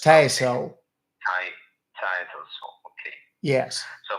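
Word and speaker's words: Tassole: It's pronounced Tassel.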